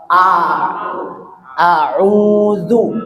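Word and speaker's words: أعوذ: Jadi a itu dibacanya o, padahal dibacanya a'u. Coba semua. A'udzu. Jadi jangan dibaca tebal jadi o.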